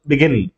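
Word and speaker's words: begin: For example బిగిన్, గిన్ ముందు పడుతుంది. కాబట్టి మనకి స్ట్రెస్ అనేది ఎక్కడ పడుతుందంటే 2వ సిలబల్ మీద.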